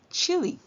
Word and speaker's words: chilly: So we hear I and l, chill, and the E at the end calls its name. So we hear E, chilly. This does not follow the magic E rule or the silent E rule.